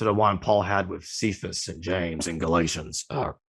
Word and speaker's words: Cephas: It's a similar argument to the one Paul had with Cephas and James in Galatians. Some pronounce him Kephas.